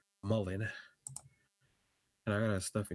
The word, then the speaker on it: Mullen: 6,000 shares of Mulan? I mean, not Mulan. I'm going to try to say it right on stream so y'all don't think I'm crazy. Mullen.